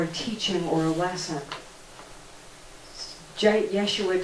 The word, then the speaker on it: Yeshua: Yeshua did that, and of course that's the Hebrew pronunciation of Jesus.